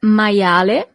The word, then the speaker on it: maiale: You see, as we have seen with the alphabet, the letter I is pronounced as I. Maia. And then the letter E at the end is always pronounced as E in Italian. Il maiale.